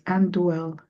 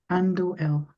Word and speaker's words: Anduel: And for those that wondered, my name, best way to pronounce it is Anduel. Anduel.